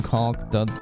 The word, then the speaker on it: caulk: People that pronounce the L in caulk just don't know any better, you think.